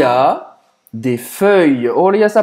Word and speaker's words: feuille: Feuille, você vai, para falar isso, você vai fazer a boca do O e vai falar E.